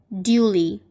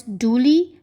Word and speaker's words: duly: It has two pronunciations. One is duly and the other one is duly. The one with the y sound is British and the other one with the oo sound is American. That is, duly is British pronunciation, whereas duly is the American pronunciation.